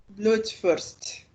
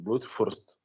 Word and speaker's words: Blutwurst: só lembrar que o W é sempre F, o R é igual o gaúcho fala, tremendo, Mas tem uns negócios que e parece o que U eles tem estão.